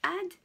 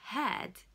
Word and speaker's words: ad: Donc ça se prononce ad et pas had, qui veut dire, c'est le participe passé du verbe avoir, ok?